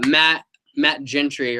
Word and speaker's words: Matt Gentry: No, this guy, Matt Gentry, right? Is that how you pronounce it, right?